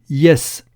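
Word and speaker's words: jes: dire oui en espérantau on dit yes comme en anglais mais ça s'écrit j e s cette lettre J que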